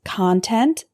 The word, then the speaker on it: content: benjamin franklin attribute attribute our next heteronym is content and content content is a noun meaning information